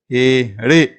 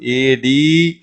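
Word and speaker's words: एड़ी: அப்படிங்கும்போது ஏ அடே, ஏ அடே அப்படி படிக்கணும். டி அப்படின்னு நீங்கள் வந்து இழுத்து படிக்கக்கூடாது, ஏடி அப்படின்னு படிக்கக்கூடாது. அப்படி உச்சரிச்சா இது வந்து தப்பு. இது வந்து ஏ அடி, அடி, ஏ அடி அப்படி சொல்லணும்.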